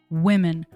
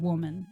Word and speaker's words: women: And so let's get back to maybe why someone in the US is saying woman instead of women.